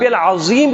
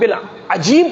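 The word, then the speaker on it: العظيم: اب آپ خود بتائیں، اب سبحان رب العظیم کے جگہ سبحان رب العجیم پڑھ رہے ہیں، معنی میں بگاڑ پیدا ہوا کہ نہیں آیا؟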